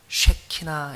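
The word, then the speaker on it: שכינה: 임재라고 하는 말은 히브리 말로 쉐키나 이렇게 발음합니다.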